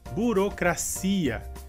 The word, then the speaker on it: burocracia: Nossa próxima palavra seria, em espanhol, burocracia, e em português seria burocracia. Em espanhol, a sílaba forte seria cra. E em português a sílaba forte seria si.